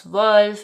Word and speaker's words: zwölf: So the number 'zwölf' (12) has the umlauted ö and then the number 'fünf' (5) has the umlauted ü. So it's 'zwölf' and 'fünf' And then